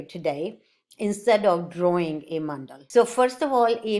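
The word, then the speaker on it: मण्डल: Okay, and the correct pronunciation is mandal, not a mandala. British had added a at the end of the nouns and pronouns to Romanize the language, Hindi and Sanskrit.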